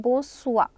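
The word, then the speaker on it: bonsoir: Then we have good evening which is बो सुआ. स का साउंड बो सुआ.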